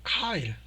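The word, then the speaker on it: Keil: 우리나라 사람은 옛날부터 이거를 케일 컴파일러라고 불렀는데 원래 발음이 저기 독일 거라서 카일이에요. 카일.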